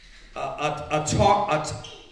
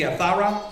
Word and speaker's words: Athara: Okay, the new brethren, his name is, I want to say his name, Atara, it should be Athara, from Wisconsin.